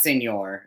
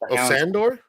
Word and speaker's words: Sandor: The Hound's for S it's not Senor obviously I forget what how to say his first name God damn it sandor sandor sandor clan yes sandor [